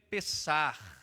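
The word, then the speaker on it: פסח: No livro do Êxodo, capítulo de número 12, a palavra Páscoa, ela vem de uma pronúncia hebraica, a dizer Pessar, e que significa aquilo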